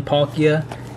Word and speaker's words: Palkia: and i know i misspelled or i mean mispronounced some names and um now i know that this is the origin form pakia and the other one was origin form the